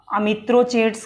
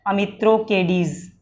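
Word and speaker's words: Amitrochates: भी लिखा मिलता है अमित्रोकेडीज। वो इंग्लिश में स्पेलिंग है, अपने कैसे भी उसको पढ़ सकते हैं। अमित्रोकेडीज भी उसका उच्चारण किया जाता है और अमित्रोचेट्स भी।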